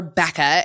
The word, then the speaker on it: Bekah: So Becca Reed, or Becca, as many of us call her, and it's spelled Bekah, and I just love her to pieces.